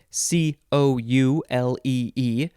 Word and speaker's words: coulee: guess next word is you have to emphasize the first syllable c o u l e e noun from 1807 1a